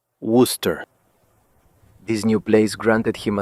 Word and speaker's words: Worcester: He found it hard to pronounce at first, Worcester, but with time, he learned that it was said Worcester.